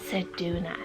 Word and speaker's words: Sedona: my next name here we have the name saduna so c e du u n m a Sedona now this one was actually used recently um